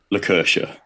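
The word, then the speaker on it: Lakertya: that obviously is wrong uh how was it pronounced sorry was it luca le curcha lucercia very nice very nice good old randomly named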